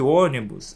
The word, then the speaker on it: ônibus: devidamente acentuada, pois você vai perceber que ônibus é uma palavra que pode ser dividida como o ni bus. Então ela não tem a última sílaba tônica, nem a penúltima. Ela tem a antepenúltima sílaba tônica.